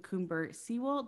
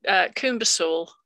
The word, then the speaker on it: CoomberSewell: CoomberSewell. Did I pronounce that correctly? Close. It's CoomberSewell.